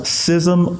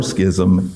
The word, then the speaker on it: schism: there should be no now this can be pronounced sysm or schism either way reason I know that